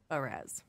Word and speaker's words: Brez: Brez. Like Battle Rez. Brez.